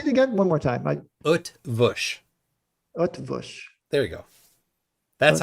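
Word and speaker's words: Eötvös: The Utvush. Urtvush. Yeah. No, there's no R sound. Utvush is.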